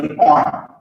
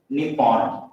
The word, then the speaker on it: Nippon: so even you can find the word nippon nippon that is the pronunciation so this is japan